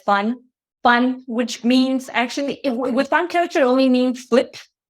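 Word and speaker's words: 翻: Yeah, it's in Mandarin, and like you pronounce it as fun, which means actually with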